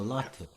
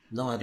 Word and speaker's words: Lotte: sometimes, and also Yeah, Latte, yeah. La, not Latte, Lade, Lauda. Uh, Lada, Lada. even though it's spelled Lotte, It's she Lada. Yes, pronounces it as if it were Lawda.